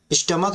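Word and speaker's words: stomach: जैसे देखिए लिखा है स्टमक, स्टमक जब हम पढ़ रहे हैं तो लास्ट में सी एच आया है और अंत में जब उच्चारण कर रहे हैं तो यहाँ पे क की आवाज आ रहा है।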